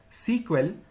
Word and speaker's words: SQL: initially the language was known as Structured English query language pronounced as sequel which was later changed into SQL in the year 1978.